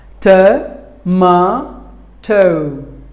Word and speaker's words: tomato: spinach were number nine tomato tur ma toh tomato this word contains three syllables but the stress falls on the second syllable MA tomato but the Americans will pronounce this word as tomato tap may Doh tomato the T will be